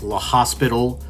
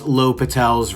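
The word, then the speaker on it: L'Hôpital: section 3.6 l'hopital's rule i know it doesn't look like l'hopital looks like l'hospital but it's pronounced l'hopital's rule very friendly subject we're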